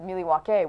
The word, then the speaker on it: Milwaukee: Milwaukee uh if anybody knows anything about movies Milwaukee is actually pronounced milake which is Algonquin for anyone the good land